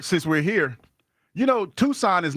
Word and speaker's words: Tucson: While we're here, since we're here, you know, Tucson is not Tucson. It's Tuskin.